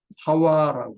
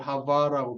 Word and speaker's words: 하와: 이름 여자라는 이름과 함께 하와라고 합니다. 이 하와라는 게 무슨 뜻이냐면 힌트가 나오죠. 모든 산자의 어머니가 되기 때문에 하와라고 했다. 근데 하와라는 말은 히브리어에 가장 가까운 발음입니다. 이브는 하바, 독일식으로 하면 히브리어를 하바라고 발음할 수 있고 일반적으로